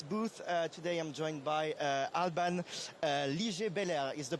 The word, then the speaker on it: Alban Liger-Belair: Today I'm joined by Alban Liger-Belair. Is the pronunciation correct?